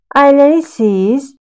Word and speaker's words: ailelisiniz: We are writing ailelisiniz, ailelisiniz. But we are pronouncing this expression as ailelisiz, ailelisiz.